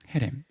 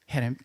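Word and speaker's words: חרם: 여리고가 어 헤렘이라고 해서 헤렘 혹은 약간 키과 히읗 발음 중간 발음이에요 헤렘 헤렘 약간 요런 느낌인데 이제 이게 저주받았다 이런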